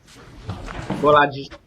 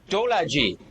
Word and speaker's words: Bolaji: Bolaji. How do you spell that? How do you spell it? B-O. Yeah. L-A-J-I. Oh, Dolaji.